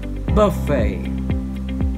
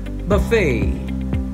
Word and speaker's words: buffet: second syllable number six in british english the word would be pronounced buffet buffet with stress on the first syllable in american english the